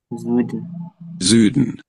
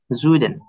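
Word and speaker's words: Süden: পুরোপুরি তো জুডেন না জুডেন স এবং জ এর মাঝে মাঝে একটা শব্দ জুম বাজু যেমন বলি জু এরকম জোর দিয়ে জু হ্যা ওরকম তো জু না জুইডেন এরকম হ্যা হ্যা জুইডেন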